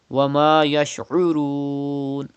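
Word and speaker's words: وَمَا يَشْعُرُونَ: Wama yash'urun. Pronounce ain from the middle part of your throat.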